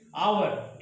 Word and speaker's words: hour: यहाँ पर एच का उच्चारण साइलेंट है, इसलिए यहाँ पर ए का प्रयोग नहीं करके एन का प्रयोग किया गया, एन आवर।